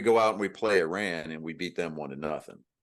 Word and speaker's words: Iran: It's Iran, not Iran or Iran. It's Iran. Ron. It's Ron. It's Ron, right?